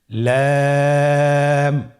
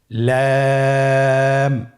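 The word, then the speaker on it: لام: লাম হরফটি উচ্চারণের ক্ষেত্রে অবশ্যই বারিক হবে এবং 3 আলিফ টেনে পড়তে হবে। আপনারা আমার সাথে বলুন লাম।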